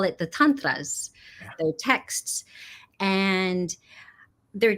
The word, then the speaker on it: Tantra: I have to be respectful and try to pronounce Sanskrit properly. Yes. It's Tantra.